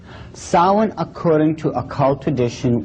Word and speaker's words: Samhain: in the occult world they call it sawing now when you look at the name it looks as if it's saying Samhain or something like that no no no no this is properly pronounced and the ancient Gaelic as solid solid according to a cult